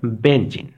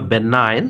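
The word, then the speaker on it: benign: দ্য অ্যান্টিনিম অফ the word, আমাদের এখানে অ্যান্টিনিমটা করে রাখছে বেনজিন। যদিও এটা প্রকৃত উচ্চারণটা হবে বেনাইন, তবে অনেক সময় এটা ভুল উচ্চারণ হয়ে যায় অনেকের পক্ষে।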